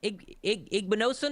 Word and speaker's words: Igbinosun: Igbinosun is how you say his name, Anthony?